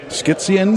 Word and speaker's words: skizzieren: Skizzieren. Skizzieren. Yeah, so skizzieren. There's an R in there at the end? Yes, there is.